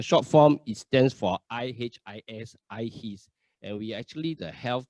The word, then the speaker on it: IHIS: Okay, the pronunciation is IHIS for short. There was a joke where there was one time the entire leadership went for an overseas retreat, and most of us already cleared the custom, and one of our colleagues stuck at the custom, and we were all guessing why is he taking so long. Most likely he must have pronounced wrongly. Instead of I his, he pronounced as I sees.